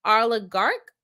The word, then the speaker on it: oligarch: on Tricia Lynn says oligarch pronounce um like it has a k at the end Arla garc okay is a very